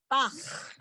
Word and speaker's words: Bach: His last name is B-A-C-H. Bach. Bach. Excellent. Johannes Bach. Bach. It's the H sound I want you to get.